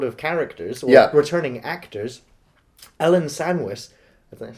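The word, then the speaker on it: Ellen Sandweiss: So, speaking of returning sort of characters, or returning actors, Ellen Sandwich, is that how you pronounce her name?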